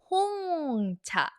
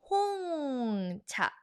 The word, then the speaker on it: 홍차: This one is 홍차. 홍차. Black tea, 홍차. Hong sounds like your home, right?